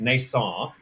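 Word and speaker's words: Neisson: it's run by Gregory I'll have to say it in the French song it's NASA uh the end is silent it's like Django but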